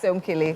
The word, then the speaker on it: Somkele: So the pronunciation is Somkele? Yes. Somkele. Yes.